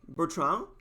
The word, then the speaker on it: Bertrand: for you to pronounce most of you guys probably will say something like bertrand no problem but again don't pronounce the d all those tds at the end of french names they are never pronounced and then i'll go